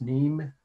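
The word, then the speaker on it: Nîmes: it in real life nimes neem is pronounced france so you need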